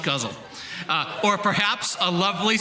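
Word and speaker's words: ghazal: she suggested an elegant gazal oh the next one i should have read this pronounced guzzle uh or perhaps a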